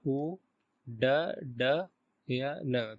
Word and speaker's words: उड्डयन: तो final last में क्या बचेगा, उ ड ड या न, तो इसका प्रोनाउंसिएशन हो जाएगा उड्डयन।